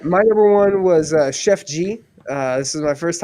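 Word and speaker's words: Sheff G: don't believe so because it's spelled s-h-e-f-f oh like sheffield oh sure yeah whatever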